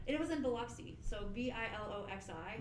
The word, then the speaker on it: Biloxi: to i don't it was in biloxi so b-i-l-o-x-i like i was like how do you even pronounce it how it blocks what is this